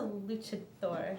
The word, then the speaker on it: luchador: is a luchador?